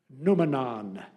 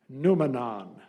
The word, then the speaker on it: noumenon: Your word is noumenon. Noumenon. Alternate pronunciation, noumenon.